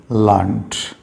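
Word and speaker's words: learned: से, बी, टू बी लर्नड, टू बी लर्नड। आर इसमें silent रहेगा। लर्न नहीं बोलेंगे, आर साउंड इसमें नहीं है। टू बी लर्नड, English is easy to बी लर्नड।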